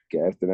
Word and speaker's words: Gadsden: you grew up in pronounce this right Gadsden Alabama is that correct yes Gaston Alabama yeah you got it right man yeah what was